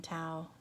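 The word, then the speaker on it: Thao: I still watch them, and I see Shine Bright Design Tao, T-H-A-O. I think that's how you say her name.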